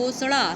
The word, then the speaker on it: घोषणा: ठीक है कि वह घोषणा सीधा इस नहीं बोलेंगे इसको नाक में बोलेंगे क्योंकि इसका नाम इसके अंदर न छुपा है इसका जो उच्चारण होगा वह कैसे होगा नाक से होगा नाक अपनी दबा कर बोलिए फोस्टा ठीक है बच्चों